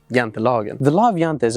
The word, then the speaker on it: Jantelagen: Jante's law, or the Swedish pronunciation of it being Jantelagen.